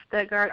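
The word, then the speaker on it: Stuttgart: show and correct me on the on the pronunciation of that that small city in Arkansas that small city is studard Arkansas we also call it Sugar Town sugar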